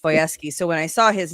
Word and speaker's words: Wojewski: One of my college roommates, her last name was Voyeski, and it was spelled Wojewski, but it was pronounced Voyeski.